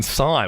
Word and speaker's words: sai: then Andy off a brought up the weapon sigh which is one you hear about like pretty rarely um spelled like is it spelled like gangdam style sign